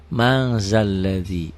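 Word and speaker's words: مَنْ ذَا الَّذِي: Man zalladhi. Apa hukumnya? Ikhfa. Kenapa ikhfa? Nih, karena nun mati ketemu zal. Nun mati ketemu zal. Tulisannya man ditulisnya, nggak ada g-nya, ditulisnya, dibacanya ada g-nya. Jadi mang zalladzi.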